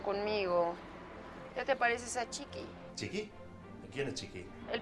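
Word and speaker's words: Txiki: Chiqui, chiquito. Es español, no euskera. Nah. A ver, Chiqui se escribe T-X-I-K-I. Chiqui, pequeño, en euskera.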